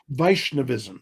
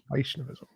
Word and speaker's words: Vaishnavism: So tell me some more about uh how do you pronounce it? Vaishnavism. Is that correct? Vishnavism. Yes. Vishnavism.